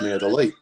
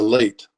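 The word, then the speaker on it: meia de leite: the late um but it's neither of those it's May the late so it's understanding how to pronounce the the dip thongs so the e I if you just go slowly and pronounce each vowel in individually so you it's let e late May the late so you do it together you mush it together but it's not late it's not light it's late it's late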